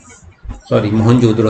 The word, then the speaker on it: मोहनजोदड़ो: मोहनजोदड़ो का जो शाब्दिक उच्चारण है वो मोहनजोदड़ा मतलब मृतकों का टीला के रूप में इसका उच्चारण किया जाता है।